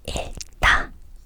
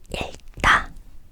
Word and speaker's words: 읽다: Normally, the consonant on the left side of the two consonants is pronounced first.